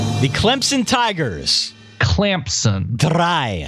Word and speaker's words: drei: Drei. How do you spell that?